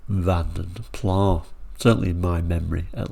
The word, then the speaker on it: Vanden Plas: I'm talking about the Van der Pla saying that's not how you say Van der Pla. Well, yeah, it's not strictly the correct pronunciation, but this particular channel